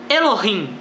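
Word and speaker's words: אלוהים: Bíblia, a palavra usada é a segunda, que pronunciaria-se Elohim, ou deuses, ou majestades, ou como você quiser traduzir, mas significa o plural de alguma coisa majestosa, de alguma coisa superior.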